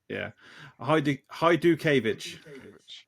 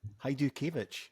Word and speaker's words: Hajdukevich: Did I pronounce that correctly? Because these guys are kind of 50-50 on it, I think. No, not quite. In fact, I've just found out recently because my wife had met someone who was Polish, and they told me that I was pronouncing it incorrectly. It's actually pronounced, yeah, Smith. it's actually pronounced Hajdukevich. Hajdukevich, right?